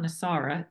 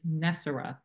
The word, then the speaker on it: NESARA: as you have tell told me the correct pronunciation is not nisara it's nessar and I know nessar has been a folklore